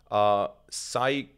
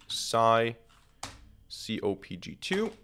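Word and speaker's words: psycopg: And the package that we want to use here is called scikit-pg. I think this is how it's pronounced.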